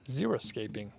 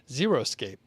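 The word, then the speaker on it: xeriscaping: to explore xeroscaping and it's spelled x-e-r-i escape and it's a style of landscape requiring little or no irrigation or maintenance and it's used in arid regions and a lot of people say xeroscape i thought it was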